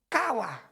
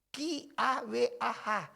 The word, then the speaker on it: kawah: Kata menantikan itu, bahasa Ibrani disebut kawah. K-A-W-A-H. Kawah. Jadi bacanya kawah. Jadi agak panjang tuh A.